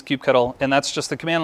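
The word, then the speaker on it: kubectl: just getting started will use Cube cuddle or Coupe control or any number of ways to pronounce this I'll leave it up to you I personally use Cube Kettle and that's just the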